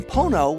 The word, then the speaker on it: Pono: recording sessions the name pono which rhymes with phono is actually a hawaiian